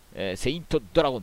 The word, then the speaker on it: 天聖龍: 天聖竜と書いて、セイントドラゴンとね読みます。